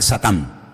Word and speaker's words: Satán: En hebreo no se dice Satanás, se dice Satán y significa adversario.